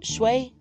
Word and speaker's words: Shui: So Feng, F-E-N-G, means wind, and Shui is how it's spelled, but it's Shui.